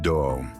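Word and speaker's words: 道: When the word way is expressed in Japanese, it is pronounced do.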